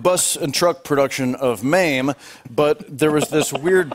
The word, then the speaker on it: Mame: It was a touring bus and truck production of MAME, but there was this weird Polish lady, and she kept pronouncing it meme.